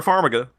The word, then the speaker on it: Farmiga: what's up i think you uh it's vera farmiga i think your opinion of the conjuring is